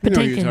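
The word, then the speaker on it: Patinkin: How do you pronounce his last name? Patankin.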